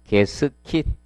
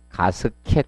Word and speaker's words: 게스킷: 그리고 107페이지 게스킷. 자, 발음상 정확히는 뭐다? 게스킷인데, 뭐 옛날 분들 이렇게 부른 분들 많습니다. 게스킷 또는 가스켓 이렇게 부릅니다. 가스켓.